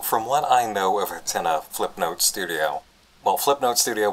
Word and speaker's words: Hatena: Hatena. Hatena. Because Japanese pronunciation.